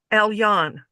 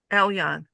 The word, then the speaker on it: Elyon: Pronounced Elyon. Elyon.